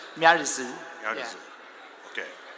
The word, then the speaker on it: ミアリズ: The pronunciation is a little bit tricky because it's the local language. In Japanese, they say Miarizu, but in English, it's like Miarizu.